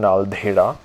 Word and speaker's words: Naldehra: And a very interesting thing about Naldehra, which is the local name of the place or the local pronunciation, Naldehra.